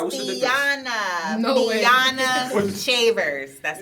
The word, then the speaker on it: Fiona: and it's pronounced Fiona. Fiona. So if you really paid attention in spelling class, Okay. when we were in elementary, you would know that it's Fiona. You have to pronounce every syllable.